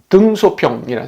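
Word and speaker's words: 邓小平: 아는 거 같아요 이분은 등소평이라 사람입니다 아마 중국 발음은 등 샤핑 뭐 이렇게 발음하는 거 같은데요 그다음에 가운데 있는 분은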